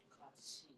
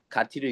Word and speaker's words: 같이: 가치. 가티를 읽지 않고 가치라고 읽어야죠.